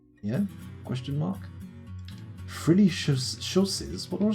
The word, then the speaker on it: chausses: Frilly chausses? What are chausses? I'm going to have to Google that. Let's have a little look at what a chausse is.